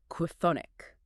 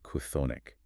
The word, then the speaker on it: chthonic: Try pronouncing a K sound, an H aspiration, and a TH sound in rapid succession right before hitting a vowel.